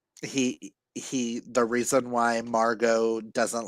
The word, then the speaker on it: Margot: He He The reason why Margot doesn't like Oh, it is pronounced Margo. The T is silent.